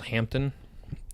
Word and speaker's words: Hampden: Yeah, it's to me the best Jamaican distillery is one called Hampton, and it's spelled Hampden.